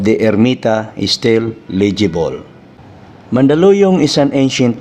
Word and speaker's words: Mandaluyong: should be mandaluyong ethymologically spanish writers found it difficult to pronounce the word hence they hispanize it into mandaluyon with n even the huerta and perez both franciscan missionaries refer it as mandaluyon without g missionaries and travelers gave